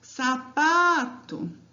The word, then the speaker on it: sapato: Próxima palavra, sapato. Qual que é a sílaba tônica de sapato? É o pá. Sapato.